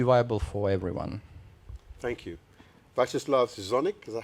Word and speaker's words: Viacheslav Zgonnik: Viacheslav Zgonnik, is that how you pronounce it?